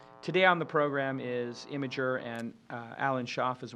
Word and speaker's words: Imgur: to be and uh it is pronounced imager imager and the reason you